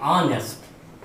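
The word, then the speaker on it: honest: तो अगर इसको हम देखें तो बच्चों इसमें एच क्या है, एच आपका साइलेंट है। तो इसको जब हम उच्चारण इसका लिखेंगे तो लिखेंगे ऑनेस्ट, यानी आ जा रहा है। ओके, एच गायब हो गया तो आ गया, इसका मतलब ये स्वर हो गया।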